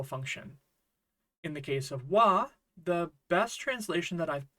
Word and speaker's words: は: getting at when we write a sentence with W as the topic marker or subject marker then it will always be pronounced W not ha and it marks the subject of the sentence